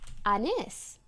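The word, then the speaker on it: Anys: okay but but I told him oh it's pronounced Anis so he must no he must know so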